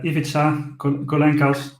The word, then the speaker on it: Ivica Kolenkas: We are joined by Ivica Kolenkas. I hope I pronounced it correctly because he sent me how to pronounce it, so I hope I did it right.